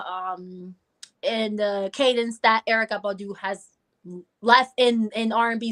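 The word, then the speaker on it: Erykah: it I can respect it Jill Scott or Erica Badu I personally love Jill Scott I know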